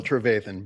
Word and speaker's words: Trevathan: So, it's uh it's a long a in the middle, Trevan, but u appreciate the opportunity.